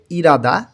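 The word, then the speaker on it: 일하다: ভালো করে মুখস্ত করব ইলহাদা এটা উচ্চারণ হয়ে যাবে ইরাদা কাজ করা ইরাদা কাজ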